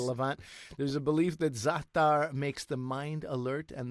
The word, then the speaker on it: za'atar: Zaatar, if you want to look it up, if you want to purchase it.